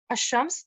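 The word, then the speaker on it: الشمس: So as I'm not pronouncing lam, ash-shams, this is a sun letter.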